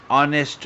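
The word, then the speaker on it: honest: प्रामाणिक माणूस या ठिकाणी ऑनेस्ट स्पेलिंग एच ने सुरू होतं पण उच्चार जो आहे तो एच प्रमाणे नाहीये तर प्रमाणे आहे ऑनेस्ट मॅन प्रमाणेच्या म्हणजे ध्वनी स्वरापमाणे आहे म्हणायचन ऑनेस्ट मॅन अ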